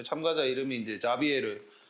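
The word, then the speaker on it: Javier: 그 참가자 이름이 이제 자비에르. 여기 이제 아마 스페인어로 발음하면 하비에르 이렇게 발음할 텐데 이 사람이 이제 초콜릿을 먹었던 기억이 있다라는 거예요.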